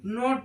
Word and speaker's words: knot: ऐसे KNEE, इसको नी पढ़ते हैं, कनी नहीं पढ़ते हैं, K साइलेंट होता है। ऐसे ही KNLL, नील पढ़ते हैं, KNOT, नोट पढ़ते हैं, KNOWLEDGE, नॉलेज पढ़ते हैं।